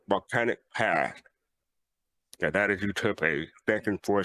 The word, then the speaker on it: Euterpe: people say tomato, but I'm looking at the pronunciation, and it's Euterpe. Well, there you go. Like E as in like fleece. Okay, so it is Euterpe. Okay. Yeah, so it's Euterpe.